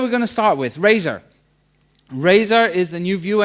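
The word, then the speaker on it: Razor: so what are we going to start with Razer Razer is the new view engine that is in asp net mvc3 and how many of you have actually played with Razer okay not a lot so Razer is is how I would say it like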